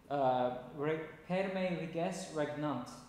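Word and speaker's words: Per me reges regnant: Perme Riges Regnant is how it's pronounced.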